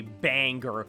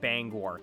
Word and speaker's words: Bangor: I can't express enough how annoying it is every time I hear someone who isn't from Maine say Banger when talking about Bangor.